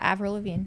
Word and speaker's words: Avril Lavigne: tell me how you pronounce it. Avril Lavigne? Yeah, Avril Lavigne.